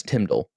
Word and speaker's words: TMDL: implementing the the timdal and you'd say it like t-i-m-d-e-l Tim Dill but that's how they kind of been been talking about it's Tyndall so Matthias would did an